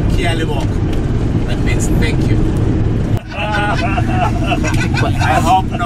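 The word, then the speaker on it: Ke a leboga: is the last one, Kia Liboka. Do you see that? Kia Liboka, yes. The G-A at the end is pronounced as a K-A. Kia Liboka.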